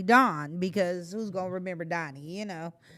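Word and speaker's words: Daug Keith: because my name is donnie it's spelled d-a-u-g k-e-i-t-h man last night somebody brought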